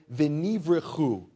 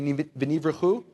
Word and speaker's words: venivrechu: And the Hebrew phrase, will be blessed, those Hebrew words, is the one Hebrew word, v'nivrechu. Can you say v'nivrechu? I don't feel like you're really, let's do it again. V'nivrechu.